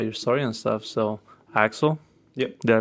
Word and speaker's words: Aczel: little bit about your story and stuff so axel yep did i pronounce it right i mean we can go first we're going to say it right and we're going to say excel excel i do it that works out man